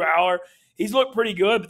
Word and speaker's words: Allar: Or, I was saying Allar and I was wrong. But it's Drew Aller.